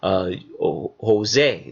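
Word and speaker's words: José: So for example, when you hear Spanish people call the name Jose, there's a J there, but the J is silent because the J doesn't exist.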